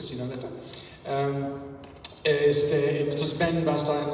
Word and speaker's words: Sinaloa: esta serie de presentaciones el martes 22 en Sinaloa, así se pronuncia, Sinaloa.